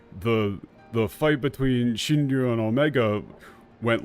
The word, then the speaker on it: 神竜: In Japanese it would be pronounced Shinryu.